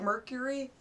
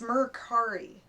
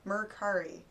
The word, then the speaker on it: Mercari: I've heard people call it Mercury, but it's Mercari. Mercari.